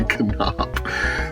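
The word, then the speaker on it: Kanoppe: to say this cuz it is not a ENT K as you would expect and the the two o's do not make an oo sound it's Bobby canop so um interesting Sandy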